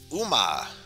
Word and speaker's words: 馬: Yes, Uma.